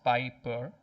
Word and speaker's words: Piper: Again, piped is one word, 2 syllables. Sorry, 2 vowels, but 1 syllable, 1 sound. Piper is 2 syllables. Piper. Pipe is 1.